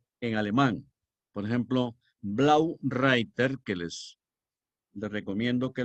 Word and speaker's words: Reiter: alemán por ejemplo Blow writer que les Les recomiendo que lo vean Blow azul reiter que se pronuncia writer e en alemán suena I writer que significa jinet El